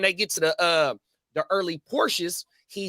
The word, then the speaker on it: Porsche: It's pronounced Porsche. Porsche, yeah. I get told all the time here. It's called Porsche.